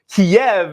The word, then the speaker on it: Kyiv: However, it was brought to my attention over the weekend that Kyiv is the way that Ukrainians pronounce it. Kiev is the way that Russians pronounce it.